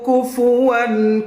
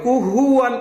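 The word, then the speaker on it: كُفُوًا: ওয়া লাম ইয়াকুল লাহু কুফুয়ান, কুফু ফু ফা পেশ ফু এমন হবে, কুহুয়ান হবে না, কি হবে?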